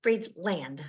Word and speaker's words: Friedland: r i e d l a n d free land I have to say I talk so fast